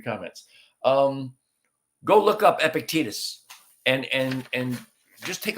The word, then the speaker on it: Epictetus: disappointed and just just so you know um epictetus is spelled e p i c t e t u s and it's pronounced epictetus so there's a little